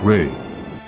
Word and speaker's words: Rei: Pronounced, rei.